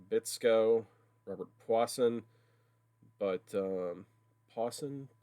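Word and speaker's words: Puason: robert pwassen but um pawson paulson you pronounce his name different than it looks but this is not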